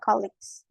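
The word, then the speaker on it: colleagues: then kita dapat colix tulisannya Kolea gu Tapi bacanya kix e aja deh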